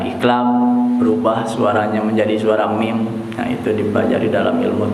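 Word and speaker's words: مِن: Min menjadi mim. Nah, itu namanya iklab. Dibacanya di situ lihat ada huruf mim. Jadi bacanya tidak min tapi mim. Ya, namanya iklab.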